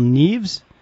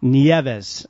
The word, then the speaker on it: Nieves: ooh Michael you might tell me if I'm pronouncing your name correctly is it Michael Neves it's Michael Nieva nieves I knew I was going to screw that